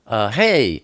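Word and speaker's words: ה: tent with Elohim but hey is pronounced H like hello or sometimes it's pronounced ah like Abba hey is the picture of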